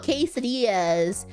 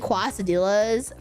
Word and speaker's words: quesadilla: Oh, quesadillas. I've been saying quasadillas for so long that I can't even say quesadilla.